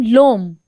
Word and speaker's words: l'homme: H is silent here. So it will become l'homme.